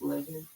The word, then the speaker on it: leaven: You said it's pronounced leaven. Yeah, 11.